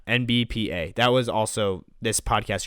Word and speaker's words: NBPA: is what it is, we were still saying it wrong. We were saying NBAPA. I don't know what was going on there, but yeah, NBPA.